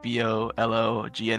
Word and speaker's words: bologna: I'm not exactly sure how it is made, but I just know it's it's spelled like B O L O G N A and it's pronounced Bologn.